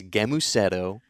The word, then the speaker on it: Gēmusetto: First of all, it's a hard G. It's Gēmusetto.